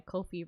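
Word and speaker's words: Ko-fi: That's why Kofi rhymes with no fee.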